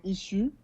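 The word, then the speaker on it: Issuu: Alors, c'est sur la plateforme Issue, qui s'écrit I2S2U.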